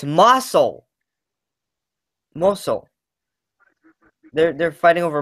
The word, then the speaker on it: Mosul: fighting over, I'm trying to think, is it mosque? I'm not too sure how to pronounce it.